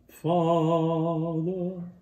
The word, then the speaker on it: father: It's very often not pronounced. Father, father. It's not usually not pronounced like father.